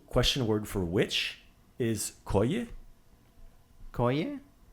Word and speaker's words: koji: The question word for which is koji. Koje. Right. So it depends on which where you throw that syllable accent is koji or koye. Either one works.